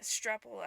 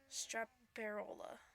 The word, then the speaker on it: Straparola: Strapola. I'm just pronouncing it like it's read. Straparola.